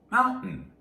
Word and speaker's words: mountain: stress and fast speaking, the T, that T sound often turns into the glottal stop. So we say mountain. Usually when we make this sound, we have words that have 2 or more syllables. The first one is stressed, and then we have a T, not always, but usually a T that starts the next syllable, as in mountain.